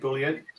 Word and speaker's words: Bülent: So, Boolean, I'm saying it right, Boolean?